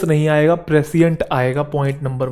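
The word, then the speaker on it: prescient: Word आया था प्रेसियंट, मैं वहां इसे प्रीशियंट बोल रहा था, वो मेरी मिस्टेक है, प्रोनाउंसिएशन इसकी प्रेसियंट होती है, प्रीशियंट नहीं।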